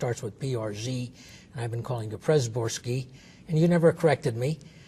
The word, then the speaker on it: Przedborski: And so if you want to pronounce it in a phonetic manner, it will be P-C-H-E-D, and then Borski, it's easy. So it's Przedborski.